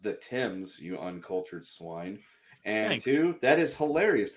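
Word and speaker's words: Thames: Kendo a German Navy ship sailed up the tames river blasting The Imperial March lol who says Germans have no sense of humor Chick-fil-A is Holy chicken it's great first it's pronounced the Tims you uncultured swine and two that is hilarious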